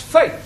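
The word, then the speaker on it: fête: the rule for example f e t e is also pronounced fate one right to one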